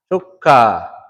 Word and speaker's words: chukka: Chukka. Chukka. Remember the U makes a short O sound. Oh. Oh. So chukka. So say it after me.